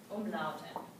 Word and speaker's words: Umlaute: Umlaute. And they are pronounced a little bit differently.